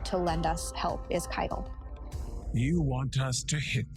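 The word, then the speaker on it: Caiatl: Okay, so there's the pronouncing, Keitel. So yeah, I just pronounced it wrong.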